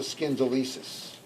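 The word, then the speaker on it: schindylesis: Now, the rostrum goes into it in a kind of joint called the scindylesis. That's spelled S-C-H-I-N-D-Y-L-E-S-I-S. So here's the S-C-H-I-N-D-Y-L-E-S-E-S. And the C-H is pronounced as a K, as in ischemia.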